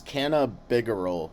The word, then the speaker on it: cannabigerol: It's cannabigerol. It's spelled canna CANNABIGEROL.